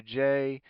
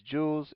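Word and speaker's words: joule: called Jews per GS time degrees Celsius so Jewels the J stands for jewels je so J we say is jewels and Jewel it's not JS it's j o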